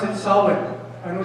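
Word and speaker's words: Samhain: what started with a celebration called and you pronounce it solid I know it's spelled with the end but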